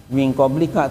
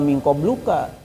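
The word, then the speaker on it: من قبلك: Ya minqoblika tulisannya itu lamnya dikasrahkan atau dirumahkan? Kasr enggak mingqobluka ya.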